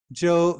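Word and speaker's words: 舟: Zhou means a little boat. So this character is pronounced Zhou.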